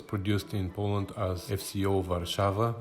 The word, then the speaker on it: Warszawa: in Poland as FCO Warszawa, which is the Polish pronunciation of Warsaw.